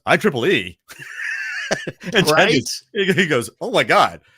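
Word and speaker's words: IEEE: let me finish I I think it's i e he goes I Triple E he goes oh my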